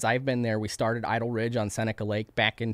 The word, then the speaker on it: Idol Ridge: Clearly not genius level stuff, but is it Idle Ridge because it's in the town of Lodi? So it's spelled backwards.